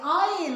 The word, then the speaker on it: Isle: Now remember the pronunciation, that is Isle, it is not Isle. S remains silent.